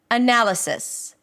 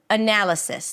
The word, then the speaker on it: analysis: The primary stress is the one syllable that sticks out the most. And in this case, it's the second syllable.